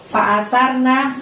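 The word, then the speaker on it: فَأَثَرْنَ: Fa'asarna, sarnya di situ sa. Jadi cara membacanya dorong ujung lidah kita ke gigi atas kita ya, gigi atas depan ya.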